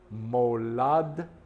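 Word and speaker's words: מוֹלַדְתְּךָ: There's a shva and a shva. Moladtecha.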